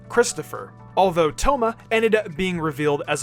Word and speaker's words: Thoma: origins outside of inazuma toma spelled t-h-o-m-a sounds the same as the japanese name toma spelled t-o-u-m-a but also sounds just like the french name thomas with a silent s at the end this hints at him